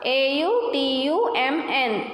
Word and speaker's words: autumn: So how to pronounce? A-U-T-U-M-N, autumn.